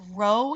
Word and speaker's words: Rho: correlation coefficient is Rho it looks like a P but it's not pronounced P it's pronounced Rho it's the Greek letter